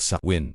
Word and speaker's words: Samhain: The transition between these seasons was marked by a festival called Sawin, pronounced Suin Sawin, was celebrated on the night of October